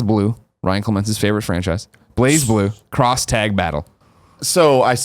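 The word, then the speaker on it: BlazBlue: blue BL blue yeah you just don't even pronounce the Z I don't know col and I used to just do it to annoy CL it's blaze blue we're we're we're American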